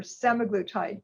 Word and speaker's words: semaglutide: Drugs are pronounced multiple ways, but I think it's easiest to do the start and then the glutide. So for example, I put down here semaglutide. You start with a semaglutide, liraglutide, dulaglutide. So that's just your hint for how to pronounce them.